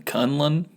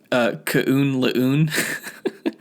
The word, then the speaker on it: Kunlun: know if he's in Kunlun, which that is how you pronounce it. Not Kunlun. I always used to pronounce it Kaun Laun. But I guess it's Kunlun.